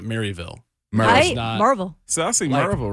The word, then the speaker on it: Maryville: Ten for Maryville it's nope Maryville I hate it really there it's more like Marvel Marvel we didn't we